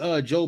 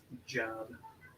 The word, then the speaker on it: Job: Job. Sidebar. I used to when I was coming up, right? I used to pronounce it job all the time. Like it's job. But it's really Job.